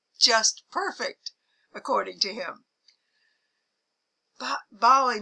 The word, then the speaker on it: Bali: to island hop its most popular island is ballet whoops that is bali it's pronounced bali daphne bali has the most gorgeous pristine beaches